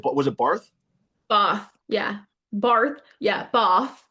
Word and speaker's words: Bath: You said, was it Bath? Bath, yeah. Bath, yeah, bath. Like bath? It's spelled like a bath. You know, you have a shower and then a bath. It's literally spelled like bath.